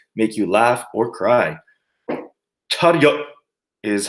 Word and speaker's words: 차렷: So 차렷 would be cha, and well, think of what the word rut, but then add a y into there. So ryut, 차렷. So rut, if you just